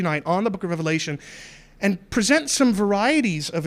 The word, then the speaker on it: Revelation: of the book is Revelation, singular, not plural. That's a little bit of a pet peeve of mine. It's okay if you're somebody that has been in the habit of pronouncing it the book of Revelations. Please don't do that in my presence.